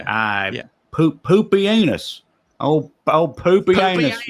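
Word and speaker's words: Pupienus: wait for real that's how it's actually said poopy anus that's I looked it up to where there's this website where where you can you can be like how is this word pronounced and it'll have a person like say it they said poopy anus so I'm going with poopy anus um So, Maximus lays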